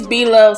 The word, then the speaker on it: Blovelife: And y'all, I've been saying it wrong. It's Blovelife Smackalicious sauce, okay?